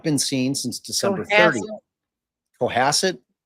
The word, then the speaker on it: Cohasset: Well, if it's a like ass Cohasset, which one is it, y'all? It's up. It says co has like asset like cohasset. Okay. Coasset. You guys agree? Cohassid. Everyone wrote like a similar thing with has Okay.